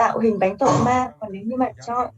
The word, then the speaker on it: torma: And so the word torma in Tibetan is made up of two syllables, tor, ma.